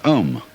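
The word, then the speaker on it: aum: course the sound om that sound is used because if you spell it out a u m it runs from the back of your throat to your lips and therefore it contains the whole range of The Voice and for that reason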